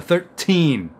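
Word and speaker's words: thirteen: And you'll notice that when I say those teens, I'm putting the stress on the second part of the word, on that second syllable, the 13.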